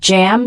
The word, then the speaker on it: jamb: The word jamb, spelled JAMB, it's a noun pronounced jam.